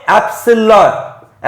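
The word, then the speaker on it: epsilon: और इसका नाम है एप्सिलॉन, एप्सिलॉन, ठीक है। थोड़ा सा साइलेंट इसमें एप्सिलॉन लग रहा हो आपको, एप्सिलॉन, ठीक है, एप्सिलॉन बोलते हैं इसे, ठीक है।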